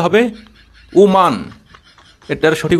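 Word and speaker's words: Oman: আমরা বলি ওম্যান যেটা সঠিক নয়। এটার সঠিক উচ্চারণটা হবে ওমান।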